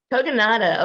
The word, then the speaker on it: Kogonada: He's going to let me call him K so I don't mispronounce his name. Okay, Kogonada, did I get it right? Yes. That's perfect. Yes, Kogonada.